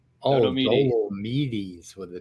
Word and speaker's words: Dolomedes: So it's Dolomedes. Dolomedes. Dollo Medes. In Dolomite. Yeah, there you go.